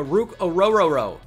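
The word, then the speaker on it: Orhorhoro: starter sooner rather than later Minnesota Vikings go ruk ororo that's how you pronounce it it's Scooby Do here uh on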